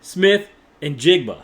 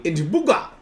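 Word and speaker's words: Smith-Njigba: Jackson Smith and Jigba.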